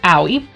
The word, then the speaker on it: Aoi: I thought Aoi, which I know now is pronounced owie.